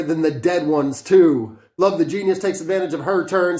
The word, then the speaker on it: Love the Genius: Ladies Brunch, the female posse cut featuring Love the Genius, that's how you pronounce that, who I last heard on Conway's Sister Abigail.